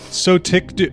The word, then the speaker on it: Sotyktu: Sotictu.